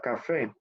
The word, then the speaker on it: café: Por lo menos yo voy a pronunciar esta palabra café. Entonces digo C-A-F-E accent aigu. Miren que esta tilde, la tilde de café sería E accent aigu.